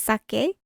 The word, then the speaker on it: saké: stick to my notes but yes it is pronounced sake all right so let's get into uh yomi